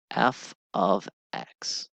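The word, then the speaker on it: f(x): do by the way this is pronounced f of X so f of X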